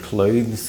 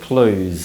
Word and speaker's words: clothes: to make it easier number one simply remove the sound and pronounce it Clues instead this pronunciation is very common and it's completely acceptable however it's a homophone of the word Clues so make sure you